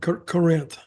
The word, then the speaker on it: Corinth: I live in Corinth is that how you pronounce it Corinth Mississippi yeah Corinth Corinth Mississippi and was a huge fan of